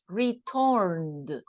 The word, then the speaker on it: returned: rules in this case if the verb ends in N we need to do the sound of the D so returned returned with the at the end no return is okay